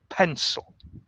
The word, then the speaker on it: pencil: we pencil okay pencil we stress the first syllable the second syllable is soft pencil okay yes now how